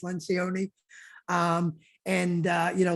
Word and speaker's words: Lencioni: about Lencioni early and it's not lanconi it's Lencioni um and uh you